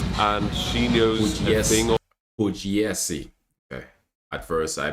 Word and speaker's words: Pugliesi: Pugliesi. Okay. At first, I butchered her name, so I'm gonna do it right.